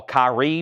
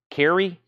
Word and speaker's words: Kyrie: course that has what I used to call Kyrie but it's pronounced Carrie and bro take these broken wings of course